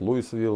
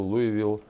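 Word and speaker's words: Louisville: я лечу в город луй Вил по-разному говорят луисвилл луй Вил штат кенту там находятся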